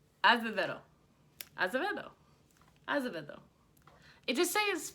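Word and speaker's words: Acevedo: I can't ever say her name, because I know it's like Azevedo, but in Spanish, a lot of times you like roll like this noise. Azevedo.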